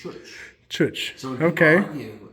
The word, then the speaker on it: Ciocc: I have another bike that's not here called a Chooch. Chooch. CIOCC. And everyone argues about how to pronounce it. Yeah, I would have called that a choach. And I did that all my life until I heard the